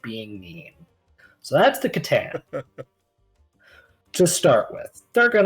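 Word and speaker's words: C'tan: Katan is spelled C apostrophe T A N. Alternate pronunciation of katan is satan or satan.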